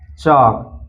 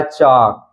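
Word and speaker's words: chalk: है वा इसी तरह चक चक में भी आप देख सकते हैं के से पहले एल आया इसलिए एल साइलेंट है सीधा पड़ा गया है चक नेक्स्ट है एम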